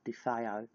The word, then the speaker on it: DeFeo: write in uh the real amville or Ronald defo um yeah so and it's spelled Ronald r o n a l d